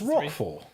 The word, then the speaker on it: Rochefort: rapier against the four isn't it pronounced rockford like the cheese um you'd think so wouldn't you but yeah and dogtanu they pronounced that roshford oh okay so whether